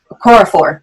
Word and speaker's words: Okorafor: 400 no okura for i always say it wrong I'm not gonna lie okorafor that's how you say it okorafor but I was